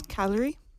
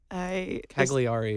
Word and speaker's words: Cagliari: It says calorie. That was well pronounced, too. Thank you. Cagliari is how I always say that in my head.